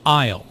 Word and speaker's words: aisle: Aisle. Notice the silent S in aisle.